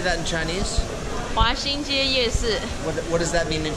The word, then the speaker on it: 華西街夜市: 華西街夜市.